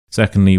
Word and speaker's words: second: Secondly, we have second. Second. Second. So the stress is clearly on the se and then the un is a lot quieter a lot shorter.